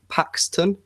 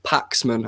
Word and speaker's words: Paxman: been on before with jeremy paxton paxman paxman i always get his name wrong and uh it was